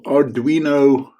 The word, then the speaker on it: Arduino: If you like to control your little Arduino, is that how you pronounce it?